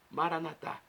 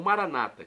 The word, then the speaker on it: Maranatá: E agora, do aramaico, eu clamo, Maranatá, como dizemos nós católicos, ou Maranata, como dizem nossos irmãos separados, os evangélicos ou protestantes. Não importa a pronúncia, o significado é o mesmo.